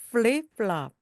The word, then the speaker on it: flip-flop: 윗니로 아랫입술을 살짝 물듯이 f 하면서 flip-flop, flip-flop입니다.